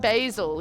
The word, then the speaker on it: basil: the dudes on that Americans pronounce it with a long a b basil yeah that's right basil